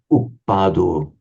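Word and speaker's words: uppādo: So here it's a heavy syllable because it's a short vowel followed by a doubled consonant. Here it's a heavy syllable because it's a long vowel, and a long vowel is always heavy. And here it's a heavy syllable, the final one, because O is long by nature.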